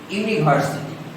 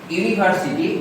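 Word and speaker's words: university: যেমন ইউনিভার্সিটি, ইউনিভার্সিটি এর আগে ইউ এর উচ্চারণটা ইউ এর মতো হয়েছে, ইউ ভাওয়েল হওয়া সত্ত্বেও এর পূর্বে এ বসবে।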